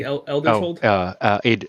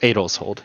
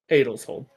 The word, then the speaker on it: Edel's Hold: current stop has led him to how's it pronounced? The city Eldershold? Adelshold, yeah. Adelshold.